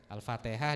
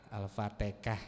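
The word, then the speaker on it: الفاتحة: Jamaah katanya gitu kan Alfatihah disebut Alfa alfatikah maka Abu ubaid qasim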